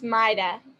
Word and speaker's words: Mayyadah: And please tell me I'm pronouncing your name correctly. It's Mayyadah. Mayyadah, I am so sorry.